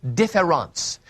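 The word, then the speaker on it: différance: and that word is differance now in French that's spelled d-i-f-f-e-r-e-n-c-e derida spells it with an a-n-c-e so I'll call it difference with an a this word doesn't exist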